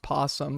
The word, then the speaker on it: opossum: It's pronounced possum. The O is silent.